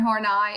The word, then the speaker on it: Horney: spelling in there so that we say Karen horney and not Karen horney or horny so anyway